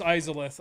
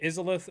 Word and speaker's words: Izalith: is it sorry izalith sorry i know it's izalith i just i think isilit is how i used to pronounce it i'm gonna go this